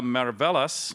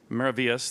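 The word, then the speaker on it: Maravillas: Galleon Galleon the nostress Sonora de la marvellas I'm sorry I pronounced it wrong maravius thank you uh this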